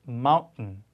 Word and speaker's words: mountain: held t, 그래서 뭔가 멈췄다 t가 나온다 이렇게 설명하기도 하는데요. 그래서 mountain 이런 발음입니다.